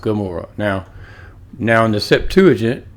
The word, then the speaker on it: Gomorrah: Amora. See that? Amora. But it actually is Gamora. Pronounced Gamora.